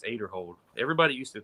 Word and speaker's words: Aderhold: He says it's Aderhold. Everybody used to pronounce it Aderhold, and he came out and corrected everybody, and everybody's still trying to fix it in their brain.